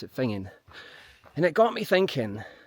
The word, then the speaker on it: Finzean: It says Finine, but the locals don't pronounce it Finine. They pronounce it Fingin.